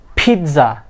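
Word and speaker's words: pizza: নো, ইটস নট পিৎজা, it will be পিৎজা। What is ইট? পিৎজা। এখানে কি আছে মাঝখানে একটা দ বা ডি সাউন্ড আছে, পিৎজা, পিৎজা, পিৎজা নট পিৎজা।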